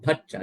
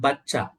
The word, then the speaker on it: bhacha: Every word has to be pronounced with an aspirate, a breathing voice. Not Buddha, Bhutta, not Boga, Bhoga, not Bata, Bhata, not Bacha, Bhacha.